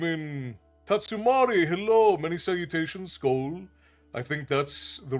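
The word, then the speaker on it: Skål: Many salutations, Skoll. I think that's the right term. Skoll would be cheers in, it would be Norse or Swedish or Icelandic. You can say Skoll or Skoll.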